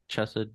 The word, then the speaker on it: Chesed: them, like, for example, Hesed. Is that the right pronunciation? Hesed, Chesed, Yesed? Yeah, Hesed is how I say, or Chesed.